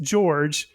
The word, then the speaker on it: Jorge: You were telling us before we started recording, but it is spelled Jorge, but pronounced George.